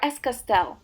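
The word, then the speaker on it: Es Castell: Essay or Escastell. Both pronunciations are correct.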